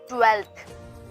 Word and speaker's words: twelfth: ऐसे ही जो next spelling आती है वो है आपकी ट्वेल्थ। ट्वेल्थ में क्या होता है, एक साइलेंट F होता है मिडल में, जैसे कि TWELFTH, इसे ट्वेल्थ बोलते हैं।